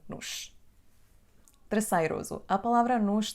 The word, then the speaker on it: nos: Então, como podem ver, a palavra nos pode estar antes ou depois do verbo e vai ser sempre pronunciada como nos.